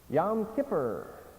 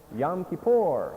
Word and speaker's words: Yom Kippur: Yom Kippur. How do the Hebrews say it? Someone said it. Yom Kippur. They put the accent different than we do. Yom Kippur.